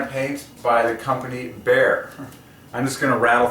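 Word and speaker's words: Behr: is a can of paint by the company Bear. I'm just going to rattle through all this. Bear equals 33. And their slogan is good, better, bear. 3 words, the final word is 33. Good, better, bear.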